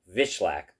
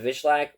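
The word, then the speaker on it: Wikłacz: Jacob Vishlak, I believe is how they were pronouncing it, defeats Patchy Mix via you split decision 22928 for Vishlak, 12928 for Mix.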